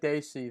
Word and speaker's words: Desi: I actually call it gamma singh said it right he said desi the announcer didn't the ring announcer he still